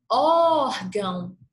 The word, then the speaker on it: órgão: Entretanto, basta fazer o chamamento da palavra órgão, Órgão, por exemplo, tem um acento agudo na sílaba or e tem o tio em gão. Órgão, órgão. Consegui identificar que a sílaba tônica é or, tá bom?